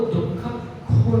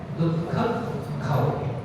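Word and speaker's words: दुक्खखओ: वो दुख खो नहीं है, आप ध्यान रखो। कभी कभी उसको उच्चारण करते समय दुख खो, वो खो नहीं है, वो खाओ है। दुख खाओ, वो 6 शब्द का प्राकृत है।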